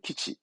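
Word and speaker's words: 基地: 기지 군사기지 기지죠 다른 거 어렵지 않죠네 기지는 키치 기지는 키치 다음 야 뒷글자 어려울까요 아니요 봐봐요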